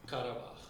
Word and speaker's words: Karabakh: How do I pronounce the last part? Karabakh.